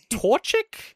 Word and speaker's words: Torchic: I'm gonna go Torchic. Is that the name? Oh, okay. Yeah. Yeah. That's it. That's how you pronounce it.